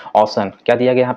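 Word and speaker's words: Ocean: ओशन city, ओशन city, इसे ओशियन नहीं पढ़ते हैं, that correct pronunciation is that ओशन।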